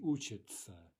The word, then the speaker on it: учится: So we write учиться, right, meaning he or she studies, but we say учится, учится.